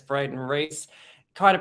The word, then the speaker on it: Rhys: on LinkedIn it's Brayton Rhys try to pronounced like Reese's Peanut Butter Cups not rice if you're trying to